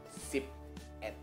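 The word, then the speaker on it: สิบเอ็ด: Karena kalau kita dengar kabar baik, ya, sip et dengan sip bad. Ini sama-sama ditulis ya, ditulis atau diucapkan dari mulut gitu ya. S-I-P-E-T. Sipet, sipet, sipet, sipet. Sama kan? Bedanya apa? Panjang pendek E-nya doang. Jadi, be careful dengan panjang pendek vokal.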